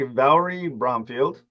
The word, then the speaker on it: Valri Bromfield: So you most recently appeared in Saturday Night as I'm say the name wrong, so correct me, Valri Bromfield.